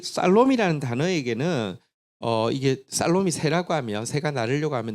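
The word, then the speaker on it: שָׁלוֹם: 영어 발음은 샬롬인데 원어 발음은 살롬에 조금 더 가깝습니다. 살롬인데요. 근데 이 살롬이라는 단어에게는 이게 살롬이 새라고 하면, 새가 나르려고 하면 날개가 두 쪽이 있어야 되잖아요.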